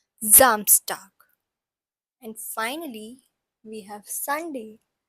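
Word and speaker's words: Samstag: that is zst so s has a little bit of z sound in it and as we learned in the previous lecture as well so it's pronounced as zamstar and finally we have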